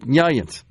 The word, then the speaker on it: New Orleans: Of course, you know, New Orleanians often pronounce the city of New Orleans really fast to kind of run together. It's like, Nyans.